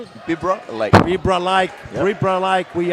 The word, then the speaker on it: Bibra Lake: Bibbra Lake. Bibbra Lake. Bibbra Lake. We uh like to just call it Perth, but it's actually Bibra Lake, isn't it? Bibber Lake or you can say Coburn.